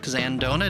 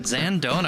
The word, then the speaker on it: Zandona: A craft spirits expert, a true craft spirits expert, Zandona. Did I get that right? Yep. I love it. Zandona.